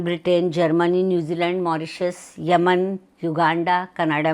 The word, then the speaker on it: योग: ने मुझे टोका था भाई तुम लोग योगा योगा क्यों बोलते हो वो गैर हिंदी भाषी हैं तो व अपनी स्पेलिंग में वाईओ जी के आगे ए लगाते हैं इसलिए वह लोग योगा बोलते हैं पर हमें तो योग बोलना चाहिए मैं फिर शर्मिंदा हो